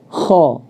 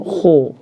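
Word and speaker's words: خ: Misalkan kho, maka tidak boleh dimonyongkan bibirnya ke depan. Misalkan kho, dimajukan ke depan, nggak boleh. Itu berarti berlebihan.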